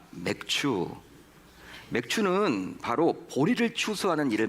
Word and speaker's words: 맥추: 속에서 사용하지 않는 말이죠 맥추 발음을 잘하셔야 됩니다 맥추 맥주는 바로 보리를 추수하는 일을 말하는 거예요 보리 추수는 것입니다이 맥추절은 구약 시대 선민 이스라엘